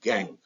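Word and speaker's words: gangue: OES gang spelling G and G E but pronounced gang impurities associated with or in the form of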